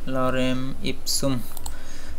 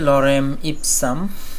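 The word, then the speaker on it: Lorem ipsum: তো আমি এখান থেকে লরেম স্পুম থেকে কিছু নিয়ে আসতেছি, লরেম ইপসুম যাই হোক। তো আমি এখান থেকে কিছু টেক্সট লিখে দিব। তো এখানে আমি বসিয়ে দিলাম। তো এটার উচ্চারণটা হবে লরেম ইপসাম।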